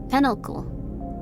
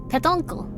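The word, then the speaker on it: pétoncle: Penoncle. Petoncle. I feel like it's saying like pet uncle.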